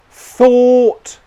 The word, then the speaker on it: thought: The mistake that I hear people making is instead of saying thought, they'd say thought, thought, thought. Okay? It's not that. It's thought, thought, thought. My tongue is moving to the next consonant, the T sound in this example, when my lips are still in the or position.